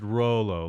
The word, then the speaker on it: Rollo: Rollo is pronounced Rollo, like roll a joint, right?